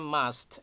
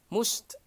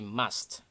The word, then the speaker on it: must: Remember bacanya must ya, karena ada sebagian teman-teman yang membaca must atau most begitu ya. Enggak, jadi bacanya bersuara A ya, jadi must. Oke, kemudian akhirannya ada desisan T ya, must. Nah, jadi ada C begitu di belakangnya.